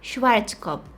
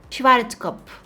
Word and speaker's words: Schwarzkopf: to pronounce this wrong schwarzkopf schwarzkopf i don't think that you're supposed to pronounce the f at the end schwarzkopf anyways this thing is